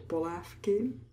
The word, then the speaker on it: polévky: Polévky. We pronounce an F sound in the word polévky.